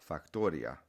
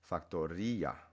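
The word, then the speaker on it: factoría: But then factory becomes factoria. And we know that because you have the little accent on the I. So it's not factoria, victoria, gloria. It's factoria.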